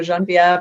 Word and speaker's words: Jenevieve: First of all, Gresh, there's no wrong way to pronounce my name. I speak multiple languages, so Jenevieve or Jenevieve are correct.